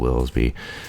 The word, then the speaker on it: Willsby: However you want to pronounce it. I pronounce it Willsby.